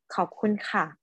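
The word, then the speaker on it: ขอบคุณค่ะ: Okay, so in Thai, you have to say it like perfectly in the right tone. So just say khop khun ka or khop khun krap.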